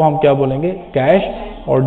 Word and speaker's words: cache: द कैश pronounced as कैश, इट इज a small but very fast memory in the computer system.